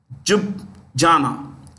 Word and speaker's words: Ljubljana: Ljubljana. Let me spell it.